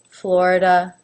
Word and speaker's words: Florida: not its own syllable it's not flory flora Florida Florida Florida Georgia now both the